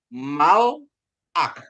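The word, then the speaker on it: מַלְאָךְ: ya dibacanya k ya K H jadi sehingga bacanya Mal ak ya jadi bacanya Mal ak ya ini di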